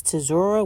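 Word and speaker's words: צורה: But it means tzur, I mean sorry, it says tzurah which is t z u r a. I don't know if that t is silent.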